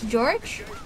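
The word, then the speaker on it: Jorge: Jorg. Jorg. How do you pronounce that name anyway? It's not George, I know that. It can't be. Wow! Look out! It's George, but it's spelled weird.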